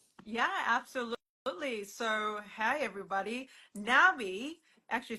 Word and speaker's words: NNABI: Nabi, actually it's pronounced Nabi.